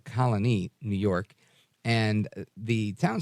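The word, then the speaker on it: Colonie: called Colony right uh like Colony but instead of with an i uh a y at the end it's with an ie and the accent on the IE so Colony New York and the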